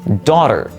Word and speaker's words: daughter: Take a look at the word daughter. Note that little GH in the middle? Well, it used to be pronounced with the H or H sound. For example, doctor. However, over time, that sound became silent because it became easier for